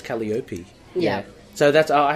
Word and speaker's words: Calliope: time Sandman Sandman okay I'm gonna pronounce it Calliope II I know that's wrong and I don't I thought no whoa I believe that's wrong wasn't there a pronunciation in the issue and that's how I took it as well any and he says Kelly Opie yeah so that's all